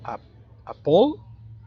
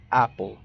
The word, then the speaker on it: apple: ¿Y dónde está el acento enfático? Correcto, en la primera sílaba, no en la segunda. Entonces la primera palabra, esta que tenemos aquí, no se pronuncia como apple, sino como apple. Son dos sílabas, apple.